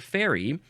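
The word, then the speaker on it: faerie: to say it um this is the word fairy but it is not spelled the way that you probably think uh again again I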